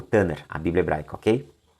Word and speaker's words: Tanakh: Mas a pronúncia é Tanakh, né? Essa última é um ret, ele é falado como meio gutural, é um R, como se fosse 3 R's, né, na pronúncia.